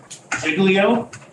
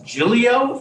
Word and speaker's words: Giglio: my legal prayer I thought it was iglio and then someone said no it's Julio and I said something not nice and then I went and listened to the Supreme Court argument and they pronounced Julio okay okay but no